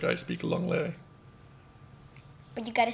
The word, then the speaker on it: anglais: Longley. What? Longley. Like long lay, but longley. Anglais. It's English in French. Like I speak English, so it's like I speak longley.